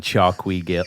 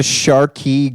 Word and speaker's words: Charqui: I wanted to ask you what the hell was going on at the Chi Grill the other night. Well, the I pronounce it the Sharky Grill.